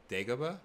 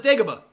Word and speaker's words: Dagobah: Dagobah?